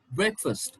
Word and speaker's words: breakfast: at this all right this word is pronounced break break okay and then you have fast fast but together you don't pronounce breakfast this is breakfast it's not breakfast it's okay it's breakfast breakfast you don't have to stretch it you don't have to say fast fast no you have to say breakfast first first breakfast okay now